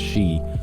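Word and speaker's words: 四: which is suffering, and 4 is pronounced shi, which is death.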